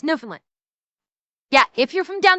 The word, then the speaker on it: Newfoundland: Uh, how you pronounce Newfoundland. Newfoundland. Right. So, Google says it's Newfoundland.